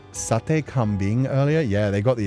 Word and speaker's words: sate kambing: The term sate or sate refer Oh yeah, I was so I was pronouncing it wrong. It's sate kaming, sorry.